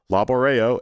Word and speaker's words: laborejo: So, you have laborejo, labor a laborejo. Stress is always on the second to last syllable. Laborejo is the workplace.